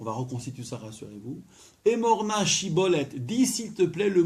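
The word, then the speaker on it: שיבולת: Donc vous dites Shibolet, il vous répond Sibolet. Et donc il se dénonce automatiquement.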